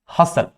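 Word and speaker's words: hustle: इसमें आते हैं, अगर कभी STL आता है तो वहां पे भी टी साइलेंट होता है, जैसे कि कैसल, हसल, यहां पे भी टी क्या होता है, साइलेंट होता है, टी साइलेंट होता है।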